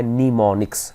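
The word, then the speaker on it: mnemonics: हैं वो कहलाते हैं इसमें साइलेंट है आप इसको पढ़ना है निमोनिक्स निमोनिक्स पढ़ना है आपने इसको अच्छा ये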